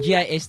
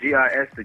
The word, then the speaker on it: Gist: Yeah, like that's how to pronounce your name. G S T. Yeah. G I S to Gist.